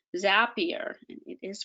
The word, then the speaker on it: Zapier: each other now you can use things like zapier and it is pronounced zapier confer i confirmed this with someone who worked